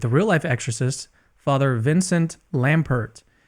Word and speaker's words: Lampert: real-life exorcist, Father Vincent Lampert. Is that the way they pronounce your name, Lampert, or is Yes, it that is silent correct. there? No, it's Father Vince Lampert. You got it right.